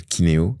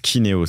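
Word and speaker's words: Keyneo: a pris un système de caisse qui s'appelle Kineo, qui est Kineosoft, qui maintenant fait partie de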